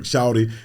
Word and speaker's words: Shawty: go follow box truck shouty and I gotta say it right it's box truck shouting so he properly saying it right box truck shop so y'all looking for this s-h-a-w-t-y shout it like we